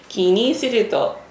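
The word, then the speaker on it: 気にすると: 気にする … え、ちょっと待って、気にするとキリがない。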